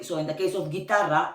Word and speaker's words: guitarra: Like the case of, for example, guitarra. Okay, in guitarra, you see that the U does not exist. And it's still like G, I.